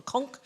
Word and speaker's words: conch: a queen conch actually in the United States it's called a conk but the British say a conch so about 3,000 years